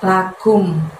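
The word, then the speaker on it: لَكُمْ: Kumnya di situ dari pangkal lidah kamu, tapi nggak usah diangkat hingga menyentuh langit-langit ya. Lebih lembut, lakum, lakum. Jadi mulutnya majuin aja karena ada harokat domah di situ.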